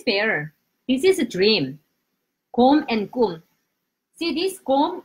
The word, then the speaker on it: 곰: Gom and gum.